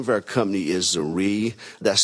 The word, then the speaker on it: Zrii: The name of our company is Zrii. That's spelled Z-R-I-I.